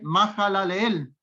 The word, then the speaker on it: Mahalaleel: Hasta ahí, por el momento, le quité una frase a un nombre, Mahalaleel. Ahí está correcta la pronunciación.